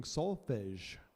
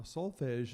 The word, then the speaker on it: solfège: Singing solfège. Now, solfège is the French pronunciation. I think in English they say solfège.